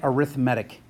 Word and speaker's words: arithmetic: add its arithmatic and I totally get this is spelled like arithmetic but you say it arithmatic if it's adding or